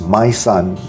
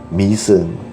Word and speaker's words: Mỹ Sơn: Y with a worm on top, and SON with a tail on the O is pronounced not as my son but mi son.